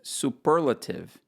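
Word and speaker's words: superlative: importância dessas marcas porque várias palavras em inglês ela tem esses em uma sílaba que no português tem outra e na maioria dos casos houve que não consegue entender a palavra que você marca estressar no lugar errado por exemplo é o caso da palavra superlativo em que no português o acento tônico está na penúltima sílaba mas no inglês tá na segunda sílaba em português é superlativo em inglês superlativo então é muito importante né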